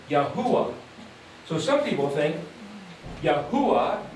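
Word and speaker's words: Yahweh: So you could say, well, say the word Yahuda minus the D, you end up with Yahwh.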